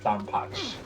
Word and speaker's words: DonPachi: You don't pronounce it. It's Donpachi.